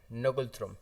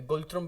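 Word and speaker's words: Ngultrum: इसके बाद सबसे इम्पॉर्टेंट चीज़ ये भी याद रखिएगा कि इनकी जो करेंसी है वो है इनकी करेंसी नगुलथ्रुम। ठीक है, या गुलथ्रुम भी बोल सकते हो, एन साइलेंट।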